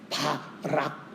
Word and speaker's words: 바락: 그런데 우리는 여기서 또 바락의 그 발음을 잘해야 됩니다. 예. 바락. 어. 잘못해서 바에다가 리를 붙이면 조금 발음이 이상해지는데 예 바락이 드보라라고 하는여